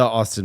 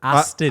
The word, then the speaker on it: Aston: The Austin Martin. the Bond car. It's not Austin. It's Aston.